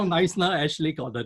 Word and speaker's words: Knysna: It's spelled K-N-Y-S-N-A. So K-N-Y-S-N-A. Yeah. Y-S-N-A. Yeah, Very difficult. yeah, you know, I heard a joke about niceness, how it was named.